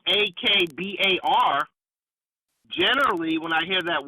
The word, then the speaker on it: Akbar: Now, generally, when I hear a Muslim whose name is that's spelled Akbar, generally, when I hear that word, it's pronounced Akbar and not Akbar.